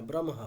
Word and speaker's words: ব্রহ্ম: তো আগে ম তারপরে হলে ব্রহ্ম হ্যা ব্রমহ আর একচুয়ালি ওটা ব্র হম হ্যা